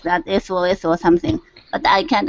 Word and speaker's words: SOS: Oh, sauce. You're actually pronouncing it. Okay. In English, we never pronounce it. We say SOS.